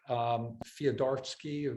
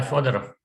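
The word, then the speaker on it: Fyodorov: This is, in a sense, it's very similar to, I might mispronounce his name, the patron saint of the Church of Immortal Life, Fyodorsky, the Russian guy. Sorry. Nikolai Fodorov.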